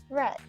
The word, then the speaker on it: read: remains the same however the word read only has different way of pronunciation in present tense it is pronounced as read in past simple or past participle it is pronounced as red the next example she